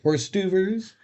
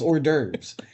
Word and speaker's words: hors d'oeuvres: food and he's like, "Horse duvers." He's like, "It's French for mouse snack." It's not. It's hors d'oeuvres. He's just saying it wrong, but it just stuck with me, and so now I like my buddy.